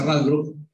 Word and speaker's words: Radbruch: Y como decía Radbruch se escribe, se dice Radbruch, un autor alemán, Gustav Radbruch, decía que la ley debe ser más inteligente que el legislador.